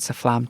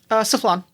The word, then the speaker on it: Saflan: willingness to accompany Agent Saflam today. Or remind me how your name is pronounced? Saflan.